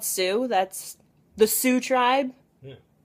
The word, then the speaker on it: Sioux: It's really called Sioux. That's the Sioux tribe. Yeah. Yeah, that's in plain sight. It was spelt with like way more letters than that. Yeah, but it's still pronounced Sioux.